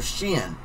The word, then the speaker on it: Shin: Loop in front of Mr Mr Chen Mr shin calling him chin I don't know why it's spelled s-h-i-n why do I say gin uh